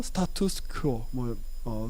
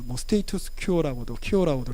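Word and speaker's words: status quo: 라틴어로 스타투스 퀘어, 스테이투스 큐어라고도 이렇게 영어로 발음을 하는데, 평정 상태.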